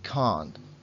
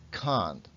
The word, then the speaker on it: can't: En negativa es una A larga, can't. es más importante alargar la A que el poner esta T al final. Can't.